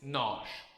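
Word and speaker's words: nós: This is important because it's not noosh, it's nosh.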